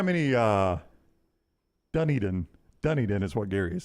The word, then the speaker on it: Dunedin: be me I wonder how many uh Dunedin Dunedin is what Gary is saying so I apologize for getting the wrong pronunciation it's okay I remember us doing this